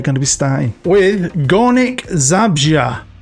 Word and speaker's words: Górnik Zabrze: With Górnik Zabrze. Now, I've looked online at some pronunciations, and that's the one I keep hearing the most. Górnik Zabrze.